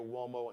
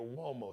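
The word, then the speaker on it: Uomo: him out on Instagram on IG the Mario wo and flyball collection Mario wo so wo is an Italian name so just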